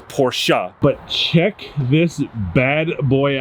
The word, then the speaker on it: Porsche: people say porsche or they say porsche it's porsha but check this bad boy out if you